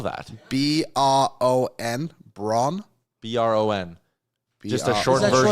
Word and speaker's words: Bron: How do you spell that? B-R-O-N, Bron.